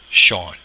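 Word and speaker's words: Seán: is a broad valve Sean you've seen that s slender sha or nah the N is broad Sean okay um next we'll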